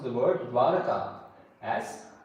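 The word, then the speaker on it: Dwaraka: So similarly Greek sources have also mispronounced the word Daraka as Baraka.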